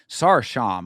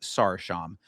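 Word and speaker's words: Sarıçam: This is Tanner Boser versus Gokhan Sarsham, I believe is how they pronounce that name. It's spelled Sarikam, but it's I believe pronounced Sarsham.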